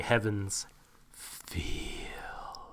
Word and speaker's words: Heaven's Feel: By the way, you mispronounced the name. It's actually... Of course I did! It's actually Heaven's Feel. Yes. That's how you have to say it.